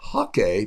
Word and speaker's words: hake: course this is a hakee brush or a hockey brush for those of you people that play the game up there it's pronounced like the game and notice this is